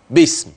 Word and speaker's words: باسم: حدش يقرا باثبات الف لا هتقرا كده بام بدون الف بعد الباء ده مكتوب يا عم